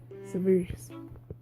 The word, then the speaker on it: sieverts: Apparently, it's pronounced 'see-vehrts'.